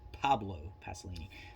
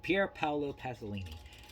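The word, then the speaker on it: Pier Paolo Pasolini: uh pierre paolo pasolini i always mispronounce his name i keep trying to call him pablo pasolini but pierre paolo pasolini uh nc 17 for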